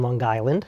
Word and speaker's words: Long Island: uh grew up on Long Island oh got to pronounce that g um town called greatneck